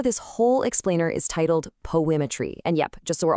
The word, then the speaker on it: PoAItry: Now, the source for this whole explainer is titled Poimmetry. And yep, just so we're all on the same page, you pronounce that just like the word poetry.